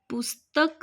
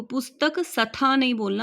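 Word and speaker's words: पुस्तकस्था: यह श्लोक है हमारा पृष्ठ संख्या 65 पे पुस्तक स्था देखो पुस्तक स्थलना आधा स है स्था पुस्तक स्था यहां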